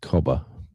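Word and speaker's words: cobber: Good day, Cobba. Like that's the next one, you know, like uh Cobba. C O B E R. Uh pronounced Cobba.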